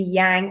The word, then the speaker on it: yang: on the right side, the yang or some pronounce it yong side.